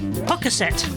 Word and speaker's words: Pocasset: How'd you pronounce that place with a P in Cape Cod? Here you go. Pocasset.